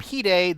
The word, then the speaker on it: Hide: learning about Japanese terms, a lot of the names are actually sound different than how they're worded. Of course, his name is Hideyoshi Nagashika, and obviously people called him Hide, though it's spelled the American way of how we spell hide.